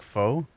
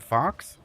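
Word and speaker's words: faux: It fucks like foe folks." Wait, did you speak Fox? Like the animal pronounced fo prince is weird. French is fucking weird.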